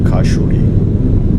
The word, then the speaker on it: Khashuri: Khashuri discovered. Khashuri... sounds a bit like "ashure." It sounds like the name of a Japanese anime character. Kashuri. Apparently that's how it's actually pronounced.